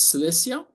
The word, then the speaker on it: Cilicia: Malos, again in ancient Cilicia, also known as Cilicia. And strangely, sometimes it is pronounced as Cilicia. It makes me laugh. You can only Anglo-Saxonize an ancient name so much.